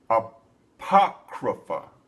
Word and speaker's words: Apocrypha: located in the aoia apoia uh let me pronounce that right Apocrypha that's what it's that's how you pronounce it that's one of the original Bibles Apocrypha that they would do this and the reason